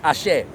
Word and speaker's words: Ashe: Their life energy is Ashe. Ashe.